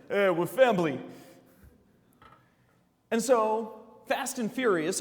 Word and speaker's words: Fambly: They call it Fambly, with a B, because that's how Vin Diesel pronounces it. We're Fambly.